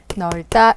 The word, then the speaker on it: 넓다: 기억 비읍으로 발음합니다 그래서 넓다는 릴 비은 높다가 아니라 널로 발음이 되어야 되죠이 부분이 잘못됐네요 널다 이고요 비읍 안다 맞고요